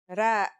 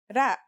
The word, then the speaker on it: ر: Our first letter is Ra. Its closest English counterpart is the letter R, but it's a different sound that must be learned. Ra.